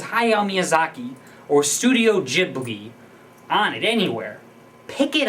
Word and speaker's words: Ghibli: jibli GH i b it's jibli or jbi or gibli however you want to pronounce it I say jibli myself uh two jibles done